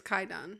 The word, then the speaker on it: Kwaidan: the movie uh Kayan Quon I think it's pronounced Quon uh it it's the W silent apparently oh really mhm kaidon yeah it's kaidon okay uh from what